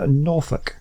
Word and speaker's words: Norfolk: and we want to build it uh in Norfolk which is how it's pronounced uh okay uh now the two stations